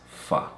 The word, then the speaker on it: fi: But at the end of a sentence, it might be pronounced fa.